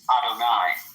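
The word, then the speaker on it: יהוה: We punctuate Yud He Vav He as Adonai. Right? Those are the vowels we put under those letters because we don't know the way that the high priest used to pronounce it in the temple on Yom Kippur.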